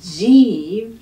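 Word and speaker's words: जीवे: way every time so jeeve just space out the sounds it's a ja and an e and to live to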